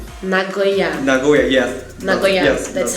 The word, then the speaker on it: Nagoya: Nagoya. Nagoya. Nagoya, yes. Nagoya. Yes, that's how I pronounce it.